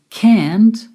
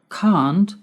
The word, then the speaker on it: can't: can't instead of can now you may have noticed that I pronounce that word in two different ways can't and can't what's the difference can't is the pronunciation in American English and can't is the pronunciation in British English can't can't can't can't